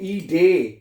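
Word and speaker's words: Idee: आइडिया को German जुबान में कहते हैं ई डे। क्या कहते हैं? ये ये बनेगा ई डे।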